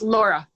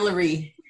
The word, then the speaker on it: Laree: It's Laura. Laura. Oh, it's Laura. No, I'm Laree. Laree. Yeah. Laree. Double E. Laree.